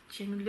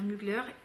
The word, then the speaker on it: Mugler: bonne surprise de Mugler on pe pas dire Mugler on va dire Mugler là ça y est